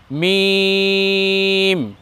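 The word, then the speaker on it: ميم: লাগিয়ে বলতে হয়, আর কিছু বর্ণ আছে যেমন মিম, মিমকে শুকনো স্থানে লাগিয়ে উচ্চারণ করতে হয়। দেখুন মিম মিম, একেবারে বেশি যেন ঠোঁট ভিতরে না ঢুকে যায় এমন যেন না হয়।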